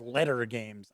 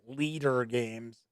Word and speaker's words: Leder Games: month from later games i believe it's pronounced letter games i don't think it's leader games regardless fort is on